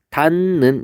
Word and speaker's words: 닫는: 닫는이라고 했을 때 여기 디귿이 있죠. 디귿이 뭐랑 만났어요? 니은하고 만났어요. 근데 이 니은이 여기 있는 친구예요. 그래서 이 친구를 여기로 끌어당기는 거예요. 그래서 얘를 발음을 할 때 닿는 이렇게 발음이 되는 거예요.